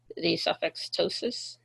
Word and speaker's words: pseudoptosis: Pseudoptosis, uh with the P is silent, uh means uh drooping.